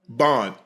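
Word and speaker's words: Baun: B A N Bond. I was saying Braun. Bond. How do you pronounce it?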